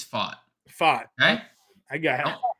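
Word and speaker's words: Pfaadt: Yeah, so it's so the pronunciation is Fought.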